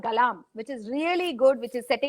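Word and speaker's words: Galarm: Galam is G-A-L-A-R-A-M. Galam. Alam Yes. with a G. Alam with a G is Galam.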